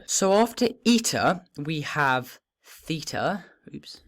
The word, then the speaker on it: eta: But since we've already had a short E sound, as you might be able to guess, eta is a long E sound. A long E sound, so an air sound.